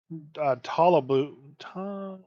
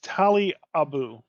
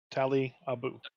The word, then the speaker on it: Talabu: know, like I had actually created one called Talabu. I can't pronounce my own character names. I do it all the Uh, time. hmm, No worries there. it's Tali Abu. Tali Abu. Aliabu, got it.